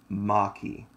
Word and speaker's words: Maquis: six steps ahead now a lot of people mispronounce my channel it's the Florida Maki ma qu is know